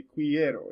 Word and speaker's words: quiero: kw the quas sound it always makes a hard k sound so you have a word like k-u-e like this right here you'll say que and you want to say you have this word ken it won't be queen you have this word it won't be quiero it just the q-u-i makes a key sound q-u-a makes it one